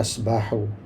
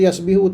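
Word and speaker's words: يسبح: berenang Sabah akan jadi yasbahu sabaha yasbahu kekal Bi atas dia tu sabaha mesti bacanya yasbahu kalau kita baca baca yasbihu tak boleh yasbu tak boleh semua Dia kena ikut sabaha yasbahu jadi perubahan kitaesu kamusan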